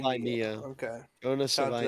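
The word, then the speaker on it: Savaiinaea: Jonas Savainia. Savainia.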